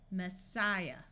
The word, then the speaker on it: Messiah: This I is going to have its long I sound. Messiah.